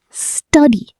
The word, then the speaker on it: study: Study, not study. The first part is strong. Study.